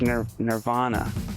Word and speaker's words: Nirvana: Canadians or anything, but the way we pronounce the name of the band is Nirvana. It's not Nirvana. So, I don't know if it's lost in the translation or what, but it's ner Nirvana.